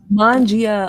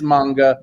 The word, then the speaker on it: manga: cowboy bebop supreme uh it is not mangia okay no because i thought you meant manga i did mean manga they're just saying mangia because i said it wrong it is manga man okay because mangia is like italian okay so yes that